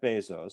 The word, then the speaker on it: Bezos: This is Jeff Bezos, CEO of Amazon. The name's pronounced Bezos, not Bezos, by the way.